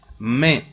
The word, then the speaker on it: mai: Mai, mai. AI is pronounced E in French language. AI is pronounced E, so we must pronounce it mai.